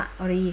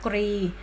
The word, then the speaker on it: กรี: นะ คะ คอ 9 กอ รอ อีก รี หรือ อ่าน ว่า กะ รี คะ ถ้า กะรี แปล ว่า ช้าง ท่า กรี ก็ คือ ส่วน แข็ง ๆ ที่ อยู่ บน หัว กุ้ง นะ คะ อ่ะ คะ